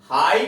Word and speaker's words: high: हाई का उच्चारण है हाई।